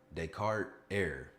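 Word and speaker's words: Descartes: No, not you don't you don't pronounce the S because it's that's not how you pronounce it. Decart Er.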